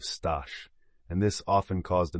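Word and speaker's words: Staś: But he was never able to make her pronounce his name correctly. She would always say stess instead of stash and this often caused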